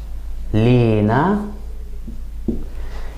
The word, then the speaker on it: لنا: For example, in Egyptian, we tend to put some stress on the first syllable and add kind of an E sound, so it would sound more like Lina.